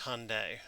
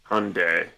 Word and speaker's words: Hyundai: the Japanese it's pronounced Hyundai Hyundai you know like Saturday Sunday Hyundai yeah it's not exactly